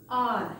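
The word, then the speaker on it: hour: the correct pronunciation is our H is silent here we should pronounce it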